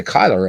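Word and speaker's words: Cuyler: of Famer Kai Kai Kyler. And Kai Kai is how you pronounce it, by the way. Uh he was asked and he said, "Yeah, my last name is Kyler. It's like Kai Kai.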